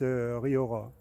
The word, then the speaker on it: Rioja: La Rioja, en fait, ça se prononce Riora.